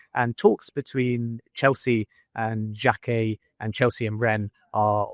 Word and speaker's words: Jacquet: Now sticking it with um players in France, you got France international Jeremy Jacquet. That's how you say it in French just in case you're wondering.